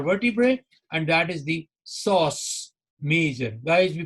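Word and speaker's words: psoas major: from my lumbar vertebrae and that is the sauce major guys we pronounce it with p so this is so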